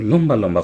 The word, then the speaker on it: লম্বা: কিন্তু লম্বা লম্বা কথা বলতেছে। এই যে ম এর সাথে ব থাকার কারণে বফলা উচ্চারিত হলো।